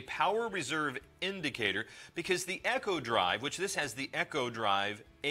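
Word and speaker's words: Eco-Drive: Now, you may hear it as Eco Drive, and most of the material they've sent to us, it's going to be pronounced Echo Drive.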